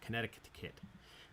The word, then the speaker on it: Connecticut: There's an extra C in there. I'm not sure how to say it. Connecticut.